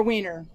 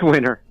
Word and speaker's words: Winner: Jeff, how is his last name pronounced? Winner or Wiener? It's Winner. Okay.